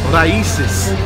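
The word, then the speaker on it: Raíces: We're at Raices. That is how you pronounce it, because I just asked that man over there.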